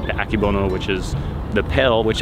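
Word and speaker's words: Akebono: a a mutation hybrid I believe pronounced akibono it's Japanese and that is actually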